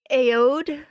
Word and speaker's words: Aoede: I want to call it Aoede, like Odie. Yeah, Odie. Maybe that... Odie, you know Garfield's what? Odie. Too late. The A is silent. It's Odie.